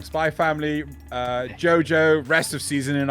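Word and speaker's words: Spy × Family: Spy X Family. Damn it, I said it wrong. Spy Family, JoJo, rest of season in October.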